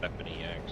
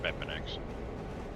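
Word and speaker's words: BepInEx: launching the game with Beppin EX. Or Beppin X. I always pronounce the E more because it's uppercase. I don't know why my brain just kicks in that way.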